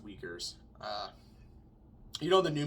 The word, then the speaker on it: Uyghurs: a more modern example the uyghurs in china i think it's pronounced weakers uh you know the